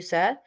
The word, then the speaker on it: said: If you have been trapped by what you said snare by the Words of your mouth If